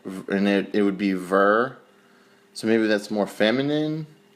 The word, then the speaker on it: ve: And then there's V, V-E, V laughed. I called, and it would be ver.